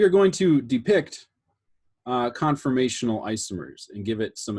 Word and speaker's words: conformational: like the details conf it's conformational isomer not confirmational isomer okay so i did